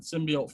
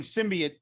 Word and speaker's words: symbiote: pronunciation of that word i've been saying symbiote for years and then that woman just like hits that t with like a punch in the face yeah but i will